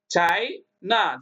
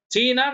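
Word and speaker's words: China: இங்க பாருங்க சிச் ஐ சைனா சைனா சீனா நம்ம சொல்றோம் தமிழ்ல ஆனா இங்கிலீஷ்ல சைனா அப்படின்னு தான் படிக்கணும் சைப்ரஸ் இப்ப பாருங்க சைக்கு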